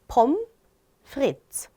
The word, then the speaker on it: pommes frites: 자, 이거 읽어볼 때 pommes frites 이렇게 읽고 싶잖아요. 그런데 이게 프랑스에서 왔습니다. 그래서 읽을 때는요. 뒤에를 안 읽어줘요. S를 특히나. 그래서 pommes frites, pommes frites라고 발음을 해요.